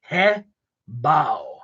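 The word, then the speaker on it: Hebow: Hebao.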